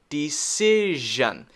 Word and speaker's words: decision: the next one decision decision here this c oops sorry this c makes the s sound which it sometimes does